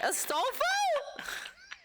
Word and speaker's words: Astolfo: I wrote ass hyphen tall hyphen foe.